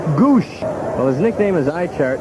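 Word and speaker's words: Gwozdz: have this name spelled G-O-O-S-H, the phonetic spelling, rather than all the S's, W's, and Z's? Gives him some character, though. G-W-O-S-D-Z is the spelling, but it's pronounced Goosh.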